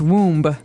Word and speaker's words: womb: b there so w m b we don't pronounce womb we say WB W uh and this is